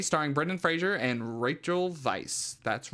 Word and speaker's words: Weisz: That's right, the 1999 cinematic masterpiece, The Mummy, starring Brendan Fraser and Rachel Weisz. That's right, that's how you pronounce it.